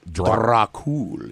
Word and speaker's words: Dracul: Dracul. You have to hold the R.